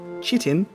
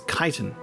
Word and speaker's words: chitin: it's spelt, which is chitin, but it is chiton. There we go. Good old uh pronunciation coming in clutch. Let me try and remember that. Kaizen. It's the K sort of CH.